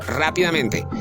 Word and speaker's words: rápidamente: palabra sobreesdúcula, por ejemplo, rápidamente, fácilmente. Analicemos en rápidamente. Rápidamente. Lleva la fuerza de voz en ra rápidamente. Exactamente. En ra en la tras ante penúltima sílaba.